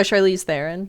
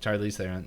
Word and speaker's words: Charlize Theron: up time, and then Charlie, I can never pronounce her last name, Theron. Oh, Charlize Theron. Charlize Theron.